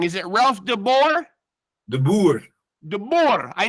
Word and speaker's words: De Boer: I don't want to say your name wrong. Is it RALPH de BOER?